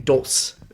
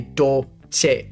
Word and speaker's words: Dolce: and when you say, it was just saying Dulce, right? Didn't know that it has to say Dolce. So we would put the word right here, select, IPA for the pronunciation variable, and then I come in here and put do, se, or you can put do and then che, right?